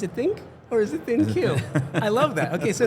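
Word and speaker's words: ThinQ: Is it pronounced Think or Thin Q?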